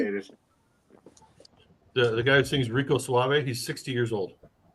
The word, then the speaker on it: Rico Suave: Just look up Rico Suave on YouTube. Pass. And make sure you roll your R.